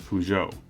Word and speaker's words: Peugeot: it as well as peugeot with the emphasis on the second syllable but if you are